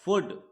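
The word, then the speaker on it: would: ओ यू एल डी दोस्तों L silent होता है एल की आवाज नहीं आनी चाहिए इसे हम क्या कहते हैं वुड वुड एल साइलेंट होगा वुड और नट लगा है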